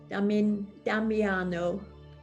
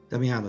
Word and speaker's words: Damiano: Damiano. Damiano. It's Damien with an O. Damiano.